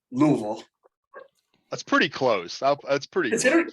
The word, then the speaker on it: Louisville: swallow it movable yeah you gotta swallow it yeah go talk like